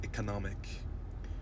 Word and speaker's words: economic: I told you, that when we add more parts, suffixes, especially IC, then the stress would shift to later parts or parts closer to the end.